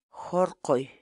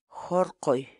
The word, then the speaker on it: hurquy: series videos where we teach you how to pronounce certain words in Quechua so our word of the day for today is Harley Harley Harley in English the Quechua word Harley means to